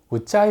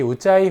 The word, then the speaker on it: Ujjayi: 일단 이 단어를 잘못 발음하는 경우가 많습니다. 우짜이 이렇게 하는 경우가 있는데요. 이 우짜이 호흡의 스펠링은 UJJAYI입니다. 그래서 우짜이 breath 이렇게 보통 표현을 합니다. 참고로 이 J가 두 번 들어간 이유는 영어에는 된소리가 없지만 산스크리트어에는 된소리가 많습니다.